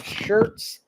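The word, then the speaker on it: Schertz: The Parkland subdivision is in Shirts. Shirts. Yeah, that's that's how you pronounce it. Yeah. Shirts, Texas.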